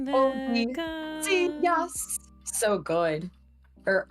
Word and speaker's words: Odysseus: Although I gotta say, Odysseus. So good. Or Odysseus. That's how it's originally pronounced. Yeah, that's how they because it's very Latin. They like Latin because it's like Polyphemus. It's like very Latinized specifically.